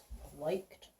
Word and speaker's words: liked: ED making our t sound. What else? What is that E doing to the I? Oh, it's making it say its name.